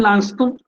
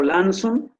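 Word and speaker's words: Launceston: Nació en Lanston, o Lanson, lo pronuncian de ambas formas en Inglaterra, es una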